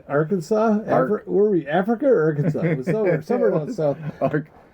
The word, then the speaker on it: Arkansas: where we Africa or Arkansas somewh somewhere South not AR cansas how do you say it no it's not Kansas it's our Kansas zerc anyway so [